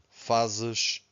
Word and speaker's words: faz: Faço, fazes, faz. So here, Z at the end, we have a sh, faz.